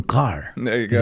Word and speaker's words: Kerr: It's Kerr. Kerr. Everybody that's reading this right now, they're going to say Kerr, and they're going to do like me, but it's the old Scottish pronunciation. It's Kerr.